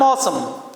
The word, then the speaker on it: awesome: इसका प्रोनाउंसिएशन एवेसम नहीं होगा, that is AW is single letter O SUM sum. The pronunciation is how are you? I'm awesome.